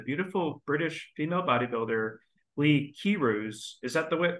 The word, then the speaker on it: Keyrouz: to welcome the beautiful British female bodybuilder Lee kiroos is that the right pronunciation for your name uh Kairus yeah excuse me to the podcast um Lee